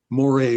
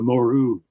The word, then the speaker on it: Moreuil: called the Battle of Moray Wood. I'll pronounce it. That's how the troopers pronounce it. It's Moru, Moreuil Wood.